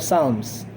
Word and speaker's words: Psalms: Silent P yan ha. Silent P. Book of Psalms.